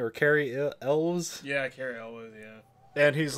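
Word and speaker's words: Cary Elwes: And like we're all having fun, and then there's a part where they get to Carl Eves, or how do you fucking say his name, or Carrie Elves. Yeah, Carrie Elwes, yeah.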